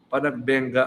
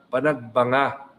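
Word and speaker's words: Panagbenga: Alam niyo ho ba that ever since akala ko ho panagbengga ang pronunciation. 'Yun pala panagbanga buti na lang no sapagkat bago tayo pumunta sa Baguio ay binanggit sa akin ng aking staff na ang pronunciation po ay panagbanga at ah tayo po'y nakisa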